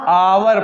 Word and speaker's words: hour: किस आधार पर, लेकिन जैसे कि देखिए HOUR, इसको हम पढ़ते क्या है? आवर पढ़ते।